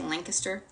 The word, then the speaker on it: Lancaster: Kind of like Lancaster, PA, Lancaster.